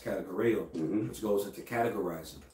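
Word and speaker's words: κατηγορέω: When we go into that word accuser, in the Greek, that word is pronounced kategoreo, mm-hmm, which goes into categorizing.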